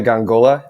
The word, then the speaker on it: Gongola: Renaissance podcast alongside me today is gangola am I pronouncing that correctly you you are cool thank